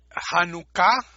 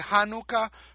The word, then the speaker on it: Janucá: el mundo y viceversa janucá acento en la última sílaba la gente a veces dice janucá por influencia del inglés en el ieis el